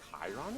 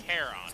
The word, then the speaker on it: Charon: The one that I think Chiron is the pronunciation? Sticks. In- Charon. Sticks, Yeah, that's right, Saffron, Sticks. Legathon, Reptile, And yeah, Charon. Thank you. I got a mix. Chiron is the Centaur.